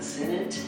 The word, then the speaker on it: Senate: gotta have the essence the senate senate has the T sound and house has the S sound Senate and House house